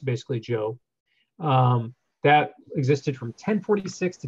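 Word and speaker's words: Zhou: the Joe Dynasty spells eh oh you were pronounced basically Joe that existed from 10:46 to 256 BC what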